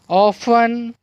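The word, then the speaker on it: often: लेंगी तो लिस्टन, लेकिन यहाँ पर टी जो साइलेंट है लेटर है इसलिए उसकी आवाज़ नहीं लिख लेंगी। ऑफन, क्या है, ऑफन, सॉफन, watch, match, Nestle, fashion, फैसिन।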